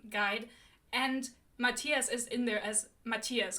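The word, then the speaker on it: Matthias: to call him look crooked Kingdom has a pronunciation guide and Matias is in there as Matias cuz like very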